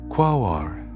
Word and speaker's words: Quaoar: with a name that carries music in its syllables. Quao-ar, pronounced softly, Qua-o-ar.